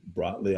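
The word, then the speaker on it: Brotli: And then Bratley, I believe is how it's pronounced, was popular shortly after that, leading up to the zipline accelerator.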